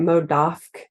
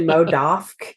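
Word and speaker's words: MODOK: the mo What mo how do you say it mode off it's actually mod off and it was like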